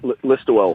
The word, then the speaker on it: Listowel: How do I say it right? That's it, Listowel.